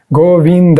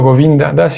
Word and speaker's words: Govindas: escuché su llamada gauguin casi siempre pronunciaba mi nombre con cuatro sílabas góring así en vez de decirlo govindas y me apresuré a